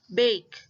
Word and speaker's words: bake: We pronounce it as bake.